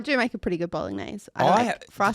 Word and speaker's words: Bolognese: I do make a pretty good bolognese. Did Fry you says just better than his pronounce mum. the G? Did you just really stick that G? Bolognese? Did you stick the G in there real hard?